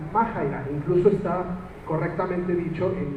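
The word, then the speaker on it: μάχαιρα: Ahí lo ven como Maaira, pero ya este consultando se pronuncia Majaira.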